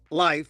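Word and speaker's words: Leif: Now, I'm I want to be kind because I I met some guy named Life. They pronounced he pronounced it life.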